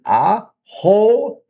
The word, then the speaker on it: axolotl: Axo- axolotl. Okay, very hard to say, but the pronunciation is axolotl.